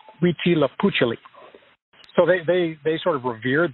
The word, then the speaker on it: Huitzilopochtli: It's hard to pronounce, but it's Huitzilopochtli.